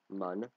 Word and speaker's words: Mun: We have two moons to get to: Mun, or Moon, it's pronounced both ways, and Minmus.